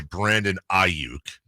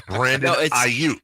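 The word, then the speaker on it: Brandon Aiyuk: right, about how we've seen multiple announcers say Brandon Aayuk. Mhm. To the point where I told Emil this that I thought I maybe we were saying it wrong and somebody had talked to Brandon about it, but they're just on drugs or something. It's Brandon Ike. It's just different inflections.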